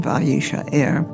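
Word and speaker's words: וישאר: You have the pronunciation, vayishaer, and you have the Hebrew, var-yishaer.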